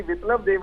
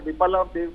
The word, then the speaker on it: बिप्लब देब: आप बार बार विप्लव देव कह रहे हैं, विप्लव है वह छोटी की मात्रा आधा प को पूरा बोला नहीं जाना चाहिए, विप्लव देव।